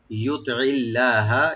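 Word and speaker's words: يُطِعِ اللَّهَ: ওয়ামাই ইউতিল্লাহা, ইউতিল্লাহা, you right দিবেন, তটাকে right দিবেন একটু, যেন একটু মোটা করে হয়। তুই হবে তে না তুই, আইনটাকে অবশ্যই রাইট দিবেন যেন গলার মাঝখান থেকে আসে।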